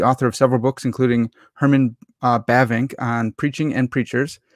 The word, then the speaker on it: Herman: I say Herman Bavinck instead of what I think is Herman. Herman. You have to roll the R a little bit.